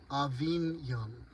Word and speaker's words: Avignon: Avignon. Thank you. I still have I have a long way to go with my pronunciations.